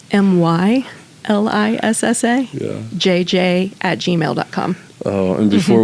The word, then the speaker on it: Mylissa: Oh, and before we dove into the emotion of the conversation, I was like, is it Mylissa? Yeah. I'm like, am I pronouncing this right? And she's like, yes.